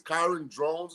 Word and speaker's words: Kyron Drones: The quarterback, I think it's Kyron Drones is how you say his name.